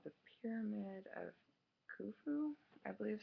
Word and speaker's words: Khufu: pyramid right here it's called the Pyramid of Khufu I believe how you pronounce it and it's the largest Egyptian pyramid